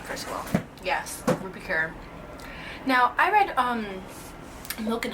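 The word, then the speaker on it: Rupi Kaur: Yes, Ruby Kerr.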